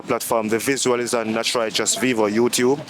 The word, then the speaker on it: Knatch Rychus: It is spelled K N A T C H R Y C H U S. Knatch Rychus. Vivo on YouTube. And for all the other platforms, it's Knatch Rychus.